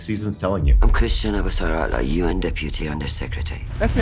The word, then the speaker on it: Avasarala: At the beginning, they had problems with pronouncing my name, and they said, leave it to Shorty. Shorty will say Avasarala. Avasarala.